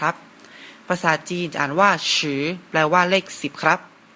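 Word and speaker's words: 十: นะ ครับ เลข 10 ภาษา จีน อ่าน ว่า ฉือ เริ่ม จาก ทาง ซ้าย ไป ทาง ขวา นะ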